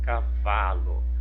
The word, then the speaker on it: cavalo: Do lado aqui, se a sílaba tônica é a penúltima, no exemplo, ó, cavalo, cavalo, cavalo, a palavra é paroxítona.